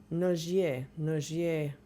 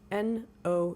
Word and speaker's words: Nogier: N O G I E R No. She's French. You pronounce it No.